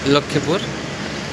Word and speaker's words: লক্ষ্মীপুর: হ্যাঁ, এটাকে ইংরেজিতে বলে লক্ষ্মীপুর, আর এটা বাংলাতে উচ্চারণ হয় লক্ষ্মীপুর।